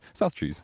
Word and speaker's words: South Trees: And I was like, it's 2 syllables, it's pretty easy to say, it looks nice. South Trees.